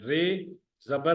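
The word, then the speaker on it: راجا: रे जबर अलिफ रा, जीम जबर अलिफ जा, राजा. राजा.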